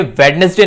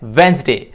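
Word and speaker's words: Wednesday: ये वेडनेसडे नहीं होता, ये होता है वेंसडे।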